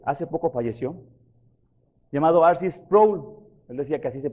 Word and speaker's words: Sproul: un hermano que hace poco falleció llamado archie sproul él decía que así se pronuncia a ver si es problema y tiene